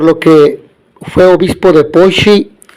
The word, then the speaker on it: Poitiers: El segundo doctor de la Iglesia es San Hilario de Poissy, que se escribe Poitiers, pero se pronuncia Poissy porque es francés.